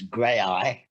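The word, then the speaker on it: Graeae: My name is Nabil Shaban, actually, and also it's grey eye, we pronounced it as Grey Eye, although it could be pronounced Grey Theatre Company.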